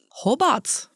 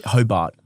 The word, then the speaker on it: Hobart: But it's like very subtle glottle stop. Hobart. Hobart.